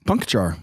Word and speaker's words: Puncochar: Puncochar.